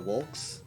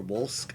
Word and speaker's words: Wolsk: I got gift subbed to Wolks. Or Wolsk, I keep saying his name wrong.